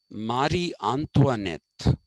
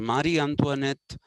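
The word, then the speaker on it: Marie Antoinette: and the wife of King Louie the 16th Mari antoanet is written m a r i e Mari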